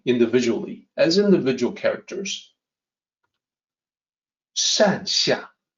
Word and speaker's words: 善下: So the pinyin has an X in there, which you just have to remember is the SH sound. So why do they not just spell it as SH? Well, it's because the pinyin system is man-made and therefore imperfect. And so it can potentially cause a lot of confusion. So just remember 善下, 2 characters.